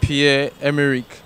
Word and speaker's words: Pierre-Emerick: So we'll be right back with the right pronunciation. Aubameyang. Emirates. Can we start it over? Emerick Aubameyang. Aubameyang. The first name is Pierre-Emerick.